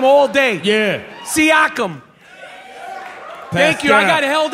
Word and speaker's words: Siakam: I fucking been practicing the pronunciation of his last name all day. Yeah. Siakam.